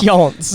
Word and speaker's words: Hjönse: No, that's Hjönse, okay? The 2 dots, okay, we don't pronounce the 2 dots because we don't know what they mean.